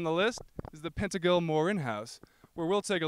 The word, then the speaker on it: Morron: first stop on the list is the Pentel Morin house where we'll take a look at what life was like for peans back in the 1800s and yes folks it's pronounced Morin built by Moses pill in 1862 the Second